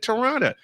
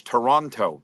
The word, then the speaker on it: Toronto: I said he said it correctly he said Toronto Toronto and we got Jody and I got